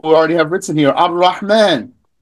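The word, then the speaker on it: الرحمن: Ar-Rahman. How do you read that? You read that without pronouncing the lam.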